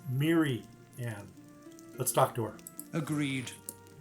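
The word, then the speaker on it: Mirianne: Instead of Mary Ann, it's Miri Ann.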